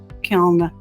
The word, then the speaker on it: kiln: important to know that the students are using a kiln with the m sound versus kim and a lot of students will pronounce kiln with the um at the end in rhode island we